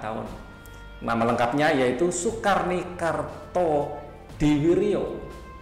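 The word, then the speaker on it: Kartodiwirjo: Nama lengkapnya yaitu soekarni Karto diwiryo ini ejaan lama lah ya bukan diwijo tapi diwiryo gitu ya Sukarni merupakan salah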